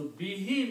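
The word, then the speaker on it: بِهِ: And because of we have discussed few times the qira'at, because of the recitation, we pronounce he instead of who. Okay? So bihi means by it.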